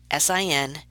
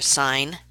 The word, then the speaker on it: sine: adjacent to the angle these ratios are abbreviated si n cos and 10 please do not pronounce them as sin cost and 10 that's the quickest way to drive a maths teacher crazy they are sine cosine and tangent yes so in the diagram